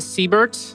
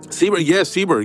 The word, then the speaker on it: Seberg: Yeah, she played Siebert. Seberg, yeah. She played Seberg in that kind of an underrated film. Yeah, Seberg. Sorry, I mispronounced that.